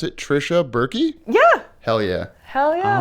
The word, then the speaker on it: Tricia Buerke: And we are here with, and I did not ask you how to pronounce it, Tricia Buerke? Yeah. Hell yeah. Hell yeah. Oh, I would have thought it was just Burke.